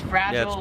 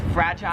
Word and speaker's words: fragile: 23 is fragile, or it's fragile if you're American. Here in Australia, how they say it is it's fragile. Fragile.